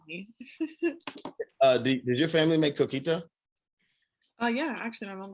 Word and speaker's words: coquito: Did your family make coquito? Oh yeah, actually my mom does. Did I say it right? Man, you sounded fire. Coquito.